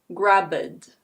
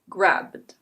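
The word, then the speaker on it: grabbed: This becomes /ɡræbd/. It's not /ɡræbɪd/. It's /ɡræbd/.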